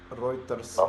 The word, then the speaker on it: Reuterswärd: His name is pronounced like Oscar Reuterswärd. Reuterswärd.